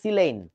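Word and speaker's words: silane: আই এল এন ই উচ্চারণটা হবে সিলেন বাংলাদেশের বইতে লেখে সিলেন তবে যাই হোক সিলেন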